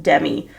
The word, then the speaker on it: Demi: doll I just know it was pronounced Demi Demi I've Lally never heard anyone say it like that but I swear over the past like year is I've heard everyone refer to her as demim more instead of Demi more and it's been driving